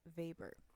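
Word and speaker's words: Weber: look at is Max Vber. Uh, I want you to note that even though his last name starts with a W, you pronounce it as a V.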